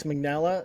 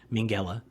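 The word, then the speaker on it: Minghella: Well, that's not how you say his name, is it? Yeah, it's fine. How do you say it? Mingela. Mingela.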